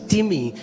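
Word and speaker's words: τιμή: टिमी इट्स इट्स इट्स the spelling is like time T आई एम ई बट it's pronounce S टिमी एंड it means heavy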